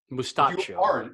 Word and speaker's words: Mustaccio: The 3 seed is Carmelo Mustachio against an incredibly strong 14 seed Cavassier Dingle. Oh, that's really good. And Mustachio is spelled Mustaccio. So And if you're playing Italian at home, Mustaccio. Mustaccio, which makes it sound